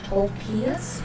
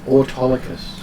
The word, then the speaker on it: Autolycus: So your name is Tolkias or Tolkias? Autolycus.